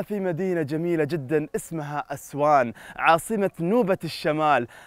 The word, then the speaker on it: أسوان: ونحن نتواجد هنا في مدينة جميلة جدا اسمها أسوان، عاصمة نوبة الشمال، آسي وانغ. آسي وانغ هكذا كانت تلفظ بالنوبية، آسي وانغ أسوان.